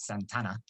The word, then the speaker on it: Santa Anna: President of the Republic, General Santa Anna, which they would have pronounced that Santana, has been invested with extraordinary dictatorial powers, and a central consolidated government has been established at Mexico City.